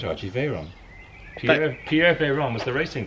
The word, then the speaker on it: Veyron: I think you pronounced it right, Archie, Veyron.